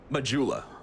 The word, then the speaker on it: Majula: sweat how do you how how do you pronounce the name of this area majula jula see yes i've only ever i've only